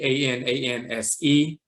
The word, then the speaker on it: Ananse: Nancy a-n-a-n-s-i or Anansi a-n-a-n-s-e because it sounds like an answer so they didn't know should they use in English if they use an e or an i it's really an e ananse but you'll see a